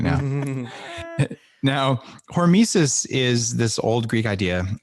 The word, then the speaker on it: hormesis: fail what what is tell me what um hormesis is it sounds like a greek character in